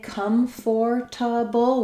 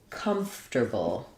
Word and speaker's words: comfortable: Or did you say comfortable? So this one doesn't make a lot of sense, comfortable. Even though we have the letters OR, we just basically drop that and we move the T and the R around.